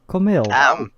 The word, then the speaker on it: Camille: You actually pronounced it right. Camille. It's Camille, yeah.